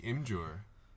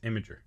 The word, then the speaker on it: Imgur: all day I like him jour yeah something soon I don't know how you say it its imagery the imager yeah oh right imgur